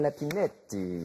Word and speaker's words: Lapinette: Mais il paraît qu'il faut le prononcer à l'italienne Lapinette.